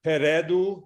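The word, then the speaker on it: попереду: is duroshenko right so you all hear peredu there's no palatalization right after the the vowels here yep so yeah very clear por per no palletizations no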